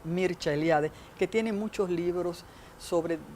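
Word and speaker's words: Mircea Eliade: de las religiones mercealiade que se pronuncia en rumano porque es rumano mircha eliade que tiene muchos libros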